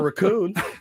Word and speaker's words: raccoon: Putting the wrong emphasis on the wrong syllable.